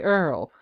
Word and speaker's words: oil: Because in the state of Louisiana, people who live there, they don't pronounce the word oil the way the rest of us do. They say Earl.